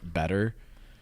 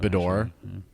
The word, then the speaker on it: Beddor: Yeah, a lot of people pronounce it better. It's that, Beddor.